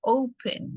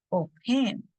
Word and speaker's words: open: en la palabra o, porque decimos open, no decimos open, sino open.